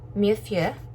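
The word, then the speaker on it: Mille Feux: So I got the Mieux Feu is how it's pronounced.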